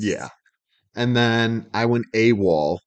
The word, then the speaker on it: AWOL: stands for absent without leave and yeah it's pronounced AWOL typically and then w-a-l-l like you said like